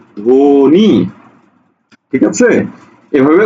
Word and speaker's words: ধ্বনি: তুমি বলছো কি ধ্বনি ধ্বনি ধৌকারে ধো নয় শিকারে নি ধ্বনি ঠিক আছে এভাবে উচ্চারণ